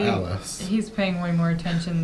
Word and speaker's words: Alice: Alice, which I think we were pronouncing it wrong before because we only realized in the last episode that everyone was addressing her as Alice, not Alice.